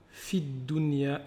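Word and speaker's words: في الدنيا: Donc ici on a Rabbana atina fid dunya. Ici là on ne va pas prononcer le ya.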